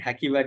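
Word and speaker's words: Hacivat: I think Hakivat is the pronunciation.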